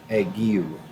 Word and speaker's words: ague: to talk about is an illness called literally pronounced eggy egg you uh it's spelled a g u e so